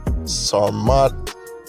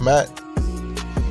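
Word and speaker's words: Sarmat: - the RS 28 saw mod that's how you say it's not matte it's a russian liquid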